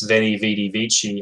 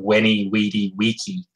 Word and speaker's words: Veni, Vidi, Vici: Like, for example, the letter V, like as in Viking, there's a school of thought that letter was actually pronounced with a W sound by the Romans. Viking. So Julius Caesar's famous Veni, Vidi, Vici, I came, I saw,